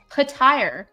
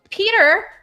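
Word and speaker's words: Petyr: I lost my freaking mind when Peter Baelish became Pattire. I was like, Peter has two syllables.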